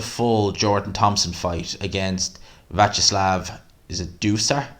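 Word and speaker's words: Viacheslav: didn't catch the full jordan thompson fight against vacherslav is how you pronounce the guy's name it did seem to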